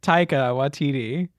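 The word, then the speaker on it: Taika Waititi: directors either I'm so bad that let's get TAA watiti is that how you say his name yeah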